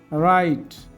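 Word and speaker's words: write: এই যে ডব্লিউ এর পরে আর আই থাকলে ডব্লিউ এর উচ্চারণ হয় না। যেমন রাইট, রাইটার, return, রাইটেবলি, রাইট headed, রিট, রাইট down.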